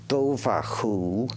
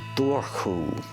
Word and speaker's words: Dobhar-chú: You can pronounce it Dobhar-chú or Dorchú.